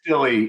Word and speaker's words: Dille: Or no, it's Dilly. It's Dilly, but most people pronounce it Dill just simply because I don't know what they do. They don't know if it's an accented syllable or not.